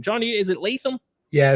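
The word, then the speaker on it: Latham: did I nail that name John is it leam yeah it's JC leam uh Blue Chip Prospect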